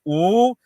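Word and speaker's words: 五: minutes, and I would in Chinese 5 is pronounced "ooh," and I would put 5 fingers up and go "ooh," and it has become a shorthand for not yet, right?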